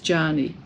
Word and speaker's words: Yany: If you remember Jani from Jani Stitches, or Jani Stitcher, her name is spelt Y-A-N-Y, but she's Mexican, so the Y is a J sound, so she's Jani Stitcher.